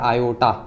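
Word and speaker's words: iota: और इसको आप प्रोनाउंस कैसे करेंगे पता, आयोटा, आई को पढ़ते हैं आप आयोटा, प्रोनाउंसिएशन है। ठीक है, इसकी जहां पर भी आई आएगा, अब से आप आई नहीं पढ़ेंगे, क्या पढ़ेंगे उसे, आयोटा पढ़ेंगे।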